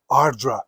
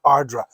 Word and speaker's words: Ardara: single mold heavily peted Ardra. That's how you pronounce it. Ardra.